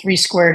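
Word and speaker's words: 3² Biosciences: We actually, it's written 32 Biosciences. We pronounce it 3 squared.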